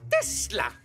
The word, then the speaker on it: Tesla: Ça se prononce Tesla. Nikolai Tesla.